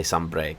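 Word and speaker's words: Sanbreque: They call themselves the Holy Empire of Sombriquet. Also, I found out I've been pronouncing it wrong. It's Sombriquet. Or Sombreg. Good day to you. They say Sombreg.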